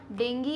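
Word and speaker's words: dengue: अच्छा, इसका प्रोनाउंसिएशन मैं इतनी देर से डेंगी बोल रही हूँ क्योंकि इसे प्रोनाउंस हम डेंगी करते हैं, कुछ लोग डेंगू करते हैं, अब वो ठीक है, मैंने डेंगी पढ़ा है।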